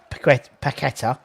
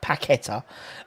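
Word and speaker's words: Paquetá: if you if we sign paquetta that's how it's pronounced properly tim moore's name said it pacquita um and so we've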